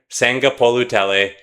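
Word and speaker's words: Sagapolutele: Can a team like Cal led by quarterback Jiren Sangapolutell, and yes, that's exactly how you say his name.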